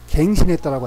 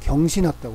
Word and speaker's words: 경신: 그러지 그 기록을 갱신했다라고 안 그래. 경신했다고 그래. 옆길로 세는 것 같지만 낙산낙수로 읽기 쉬운 그런 한자가 있는데 낙자가 즐거울 낙자인데 좋아할 요로도 쓰여.